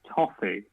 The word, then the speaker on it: BOFI: We've answered one, which is how the hell do you pronounce BOFI Racing? You got Okay. it, Toffee Racing.